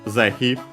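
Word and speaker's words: 是非: First Zehi, an adverb, which you might also guess yourself considering the context where it's placed. This one should be accent on the first mora.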